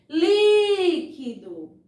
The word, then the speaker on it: líquido: Líquido. Líquido. Líquido. Perceberam como, ó, eu demorei bem mais na sílaba li e é justamente a sílaba acentuada, certo?